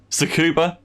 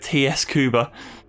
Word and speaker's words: Tsukuba: Tsukuba. It just reminded me of Tsukuba, actually. He used to call it TS Kuba.